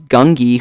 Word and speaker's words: Gungi: As well as Gungi, who is I think that's how you say his name. Gungi, who is a Jedi Padawan, or youngling rather, from Clone Wars.